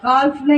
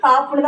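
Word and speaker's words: half: அடுத்தது ரெண்டாவது இது இந்த காப் ஹெச்ஏஎல்எஃப் கால்ஃப்னா இது என்ன அர்த்தம்? கால்ஃப்னு வாசிக்க கூடாது, காப்புன்னு தான் வாசிக்கணும். எல் வந்து சைலண்ட் உச்சரிப்பு.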